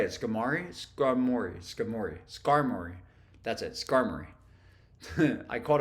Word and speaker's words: Skarmory: know how to say it skari scorei scori Skarmory that's it Skarmory I caught a five uh